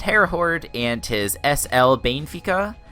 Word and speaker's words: Benfica: horde and his SL Benfica I think it's how it's pronounced I know it's only three syllables and that's not Bayon efika which i think is how a lot of people pronounce it so hopefully I got